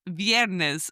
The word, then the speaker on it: viernes: That's viernes, spelled V-I-E-R-N-E-S.